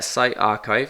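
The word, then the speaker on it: PsyArXiv: Uh site archive is how you pronounce that.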